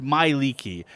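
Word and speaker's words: Mielikki: to do this so the way you spell this is m i e let's see l i k k i and it's pronounced Miki uh so we have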